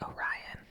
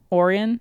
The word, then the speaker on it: Orion: also could be wrong, but I think it's pronounced Orion. Is it Orion? I think so. Did I say Oran? Yeah. Yeah. Sorry about that. It's Orion. Yeah, cuz it's Orion's belt.